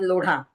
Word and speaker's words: लोढ़ा: जैसे वो जो बिल्डर है उसका नाम है मंगल प्रभात लोढ़ा। लोढ़ा बोला जाता है। उसके नाम से उसका बिल्डिंग का नाम है। लेकिन लोग उसको लोधा लोधा लोधा कर रहे हैं।